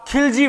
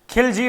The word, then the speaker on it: खलजी: अब शुरू होगा खिलजी वंश। गुलाम वंश का यही अंत हो जाता है और शुरू होता है खिलजी वंश। खिलजी वंश को खलजी वंश भी कहा जाता है। सही उच्चारण खलजी ही है।